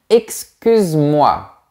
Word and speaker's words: excuse-moi: personne quand c'est informel excuse-moi on ne prononce pas le E avec une personne quand